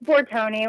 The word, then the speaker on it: Bortone: Is that how you say your last name, Bortone? Close, yeah. It's Bortone. My husband's Bortone. Italian, but it looks like Bortone. I should know that because I'm part Italian, but I didn't know if you pronounce the E like that.